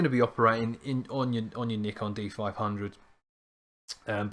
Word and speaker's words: Nikon: That's Nikon, not Nikon. Nikon is the right way to say it. Go and speak to the Japanese, honestly.